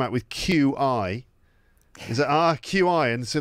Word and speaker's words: qi: Is it QI?